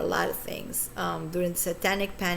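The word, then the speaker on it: SAY10: The song is called Satan, as is spelled say and then the number 10, Satan.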